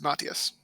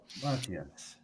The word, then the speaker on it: Matthias: Don't pronounce the H. It's Matthias. Matthias.